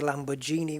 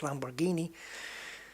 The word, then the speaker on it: Lamborghini: And some people say Lamborghini when it's not, it's Lamborghini.